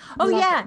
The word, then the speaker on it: Milagros: Michelle asks, she loves Jane's, and I don't know how to pronounce this. Is it Milagros? How do you? Milagros.